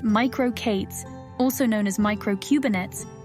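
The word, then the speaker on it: MicroK8s: the use of JuJu merco k8s pronounced micro Kates also known as micro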